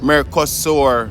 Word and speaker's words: Mercosur: as a travel document in what is mer mercosur region m-e-r-c-o-s-u-r america sword right pronounced m-e-r america sewer which is the majority